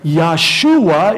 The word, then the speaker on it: Yahshua: was a type of Yahshua. In fact, the name is the same. They don't pronounce the J in the Hebrew tongue, but Yahshua is Joshua.